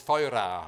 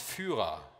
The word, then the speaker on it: Feuera: So they were gonna call this Feuera, which is the Portuguese for fire, F-E-U-R-A. Which the English pronounce Führer.